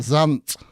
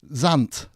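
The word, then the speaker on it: Zandt: The Velvet Voices is the title of a Towns Van how do you say that? Zant. Zant. Z-A-N-D-T. Zant.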